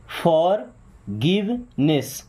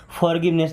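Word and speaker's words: forgiveness: Okay, फॉरगिवनेस, फॉरगिवनेस, क्या बोलेंगे? फॉरगिवनेस। यहाँ पे हमने आर को साइलेंट कर दिया थोड़ा सा स्पेशल करने के लिए। फॉरगिवनेस नहीं, फॉरगिवनेस।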